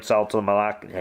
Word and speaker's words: Saltalamacchia: Aviles and Jared Saltalamacchia.